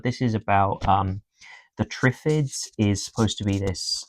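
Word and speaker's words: Triffids: Okay, day of the tripffids. That's how you say it. Yes, day of the trips.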